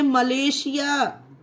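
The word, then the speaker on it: Malaysia: उसी तरह से ये देखिए मलेशिया, इसमें देखिए आई ए है एस के बाद, इसे भी मलेशिया मतलब शा का प्रोनाउंस किया गया है एस को।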